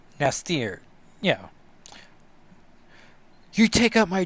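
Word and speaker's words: N'astirh: Honestly, it's because it's in apostrophe ASTIRH, but I'm pretty sure the H is silent. So it's Nastir.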